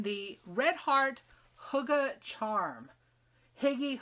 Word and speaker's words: hygge: red heart hugga charm higgy hygge i was told uh by joe on garden state gardner that hygge is hygge i don't want to say it like he does but it's hygge two sparkly balls of